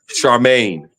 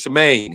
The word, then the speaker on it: Charmaine: it right but uh Charmaine and he says and I everybody goes shamain he says no Shaman is a girl name my name is charmain you know okay I'm